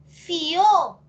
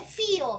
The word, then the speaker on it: fió: Pero es fió, es aguda. No, es monosílabo. Pero piensa. ¿La cerrada acaso suena más que la abierta? Acá no dice fío. Fío sí es una palabra de 2 sílabas. Fío. Pero fío no. Porque cuando suena la abierta no se separa. Cuando suena más la abierta no se separa de la cerrada.